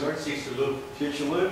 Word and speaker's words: Chicxulub: Does someone here want to pronounce that? Where is it? Chicxulub.